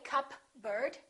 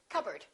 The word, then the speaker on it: cupboard: receipt psychology psychic one more cupboard don't say cup bird or cupboard say cupboard my kitchen cupboard silent s Arkansas Illinois Island